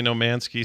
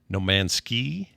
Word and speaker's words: No Man's Sky: people say no manky some people say no man's ski uh emphasize it however you want but it's spelled like no man's sky with an apostrophe after the M or the n in man uh all right so that's